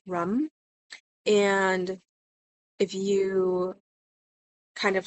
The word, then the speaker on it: RAM: I think is pronounced, it's R A M, but it's kind of pronounced rum.